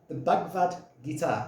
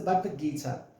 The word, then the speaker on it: Bhagavad Gita: quite how old, is a book called the Bhagavad Gita. I always pronounce that wrong. It's the Bhagavad Gita.